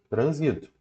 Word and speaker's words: transito: exemplo a classe gramatical você tem a palavra trânsito a palavra trânsito Se você retirar o assento ela vira transito e trânsito é substantivo trânsito é verbo Ok então toma cuidado porque às vezes a retirada do assento ó trânsito é substantivo e transito é verbo a retirada do assento